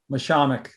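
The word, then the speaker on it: Mashomack: How do you pronounce the preserve? Mishamik.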